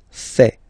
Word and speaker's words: fait: Il, masculin, and then elle, féminin, fait. Final T not pronounced.